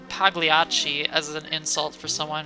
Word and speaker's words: Pagliacci: Vero says, you don't pronounce the G in Pagliacci.